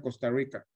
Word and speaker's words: Costa Rica: Nótese la R, como así la pronuncian los costarricenses, Rica. De Honduras a Costa Rica.